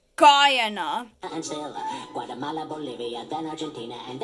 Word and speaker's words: Guyana: but it's not it's a u.s territory it's pronounced guyana guatemala bolivia then argentina and ecuador bermuda